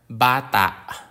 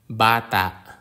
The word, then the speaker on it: bata: or malum or malumi most Filipino words have the stress on the second to last syllable example words are Bata which is a child Bata puno puno which is